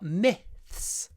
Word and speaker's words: myths: myths and legends myths unusual word not many words have this I sound so we say the I is clipped before the th myth open your mouth myth it will be